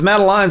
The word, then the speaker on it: Madeline: I spelled it different because Madeline's I would write Maddle and then Maddie, and then I would write the word line, but I would underline it to remind you say it like a line.